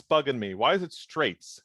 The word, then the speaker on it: Straits: Why is it Straits? How is it not Strizo? So my problem is the band reference is Dire Straits. Right. So it's Strizo or however you want to pronounce it, but I keep calling him Straits because I can't.